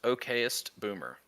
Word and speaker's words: okayest boomer: verify that it is pronounced okayest boomer, not any of the other variations you may have heard or thought you knew or thought in your head.